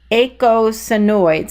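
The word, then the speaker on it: eicosanoids: soluble vitamins and echinoids think of like the number eight how you have EI ght eight echinoids is how you pronounce that word and that's the third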